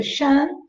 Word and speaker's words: Shen: Se escreve Shen, mas pronuncia Shan.